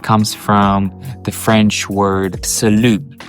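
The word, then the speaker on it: Салют: end because it comes from the French word salute right but in Russian we pronounce everything uh pretty much and uh for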